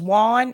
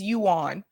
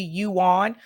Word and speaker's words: yuan: a while back and they thought it was Juan it is Yuan yeah I know it's spelled one but it's it's spelled like it would be one but it is actually you on uh but yeah you